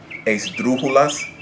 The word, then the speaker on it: esdrújula: Esdrújulas, which, sure enough, the word esdrújula itself is an example of an esdrújula accent.